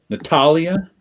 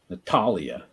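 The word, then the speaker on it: Natália: that mean an accent it's the stressed syllable Natalia yeah ah okay Natalia ah they usually don't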